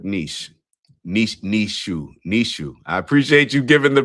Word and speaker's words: Nietzsche: Nishu. I appreciate you giving the pronunciation.